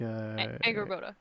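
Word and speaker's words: Angrboda: But faster, like Anger Boda.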